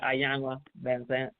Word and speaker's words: Iyanla Vanzant: So, I watched, is it pronounced Iyanla Vanzant? Is that how it's pronounced? Yeah, Iyanla. Yeah, Iyanla Vanzant.